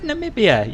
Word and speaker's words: Namibia: You said Namibia.